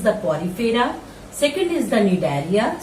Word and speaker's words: Cnidaria: Second is the Cnidaria. C is silent here. Cnidaria.